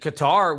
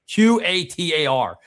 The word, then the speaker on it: Qatar: Qatar, Cutter, whatever you call it, whatever you pronounce it. Q A T A R.